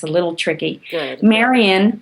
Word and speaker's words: Marian: it's a little tricky Maran rhymes with librarian and is